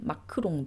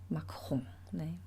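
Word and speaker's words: Macron: 약간 로댕과 로댕과 호당의원 경우는 많습니다이 이제 에알 발음 때문에 그렇죠 우리가 이제 프랑스 대통령인 마크롱 이제 한국 언론이나 뭐 한국에서 마크롱 마크롱 이렇게 이야기를 하지만 사실은 이제 마으로 발음이 되고요 마홍네 그래서 이제이 알 때문에 발생하게 되는 뭔가 그런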